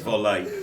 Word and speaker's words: Vole: Yeah, but it's not. It's volley. On the French, volley. On the volley. It's Turkish actually. So, Turkish word for MOLE, how would you say mole?